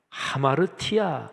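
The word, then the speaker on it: ἁμαρτία: 수 있는 능력이 없습니다 죄 라는 헬라어 단어가 아마르 티 야 이렇게 발음합니다 근데 그 원래 어휘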